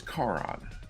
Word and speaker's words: Charon: in the world, because the CH in Italian is pronounced with a K, so it is Charon.